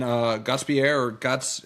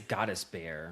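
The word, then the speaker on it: Gostisbehere: And then Gottsbier, am I pronouncing that Gottsbier? I'm going to say that's right. I think it's Gottisbeer.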